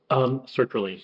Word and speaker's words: sertraline: They would stop, get off it, get on the, how do you pronounce it, Seroquel? Sertraline.